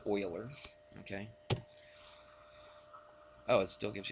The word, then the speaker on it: Euler: euler's number constant spoilers it looks like euler's but they pronounce it oiler okay oh it still